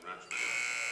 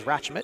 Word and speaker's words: Ratchmut: Rio Hondo foul number 21, Kathleen Ratchman. First second personal. Correction up until the pronunciation is Ratchmut.